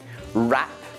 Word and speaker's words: wrap: And the other pattern I mentioned is that of words where W is before an R. For example, wrap, wrench, wrestle, wrinkle, wrist, right, wrong, wrath, wreck.